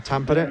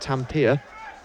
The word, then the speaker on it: Tampere: of Edinburgh, who competed for Great Britain in Tampere in Finland at the World Under-20 Championships. And yes, that is how you pronounce it. It's not Tampere.